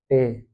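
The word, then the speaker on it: Tee: ई लगाया था, इश त्रिंक और टे, इश त्रिंक टे। ये स्पेलिंग मिस्टेक नहीं है, इसको जर्मन भाषा में टे ही कहते हैं, टी डबल ई पढ़ते हैं, ठीक है, टे।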